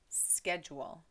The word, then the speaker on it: schedule: Well, Elias, in the United States, we say schedule.